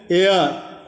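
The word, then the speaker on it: heir: यहाँ पर शब्दों का उच्चारण में एच, ये जो सामने एच है वो साइलेंट है। देखिए जैसे कि आवर, एयर, ऑनेस्ट, एच से प्रारंभ हुआ है लेकिन एच हमको पढ़ नहीं रहे हैं, उच्चारण हमारा एच गायब हो जा रहा है, साइलेंट हो गया है।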